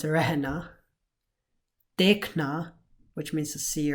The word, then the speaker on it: रहना: So even though it's spelled rahana, it's pronounced rehna.